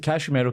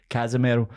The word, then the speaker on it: Casemiro: And I think part of the problem is, obviously Casemiro came out. Oh, sorry, I'm pronouncing his name wrong because he's Brazilian, not Spanish. Casemiro.